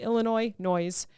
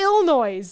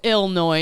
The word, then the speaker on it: Illinois: If I can say it correctly, the Illinois Noise Business Playbook. Okay. They should just call it Illinois. Yeah, but that'll piss people off too. Maybe that's how you say it.